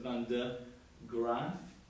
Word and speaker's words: Van de Graaff: can say this was the Van, it's sometimes it's spelled der, D-E-R, but we're going to call it Van de Graaff.